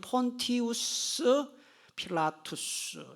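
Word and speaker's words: Pontius Pilatus: 처한 본디오 빌라도 총독이죠 원래 이런 폰티우스 필라투스 이렇게 발음을 해요 폰티우스 필라투스 본디오 빌라도는 우리식 이름이에요 우리 한글 성경 번역하시는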